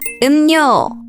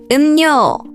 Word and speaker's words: 음료: For example, 음료 is pronounced as 음료, 음료, because the deer changes after amium sound.